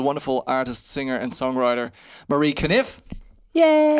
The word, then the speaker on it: Conniffe: This week's very special guest is the wonderful artist, singer, and songwriter Marie Conniffe. Yay! And I pronounced it correctly this time, just like Ken Conniffe.